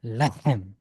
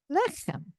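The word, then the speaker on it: לֶחֶם: And the accents on the first syllable. Le. Lehem. Okay, now say it with the accent on the first syllable. Lechem. Lechem. Yes, there's bread. Lechem.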